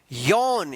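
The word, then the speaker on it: yawn: यानी एक के जस्ट बाद अगर W आता है तो इस ए का क्या उच्चारण होगा, औ उच्चारण होगा।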